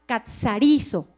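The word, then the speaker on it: καθαρίζω: La palabra limpiados viene de una raíz griega que se pronuncia catzarizo, que significa hacer limpio, purificar, desaparecer.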